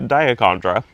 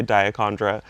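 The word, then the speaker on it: Dichondra: and where I'm at we say diondra and I heard Carol Klein from Gardener World say diondra so it's officially diondra even though it's spelled dondra you can say it however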